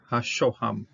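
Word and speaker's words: השהם: This is the shoham. This is a shin, sho. This is a holem, and that last syllable here is ham.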